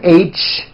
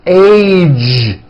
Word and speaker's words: age: the ends of words be sure to keep the vo and going throughout the whole word age it's not H it's age with a Voice ending College postage stage pledge